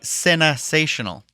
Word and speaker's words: CineSational: But I see CINE, and I think Cine, like cinema. It's supposed to be CineSational.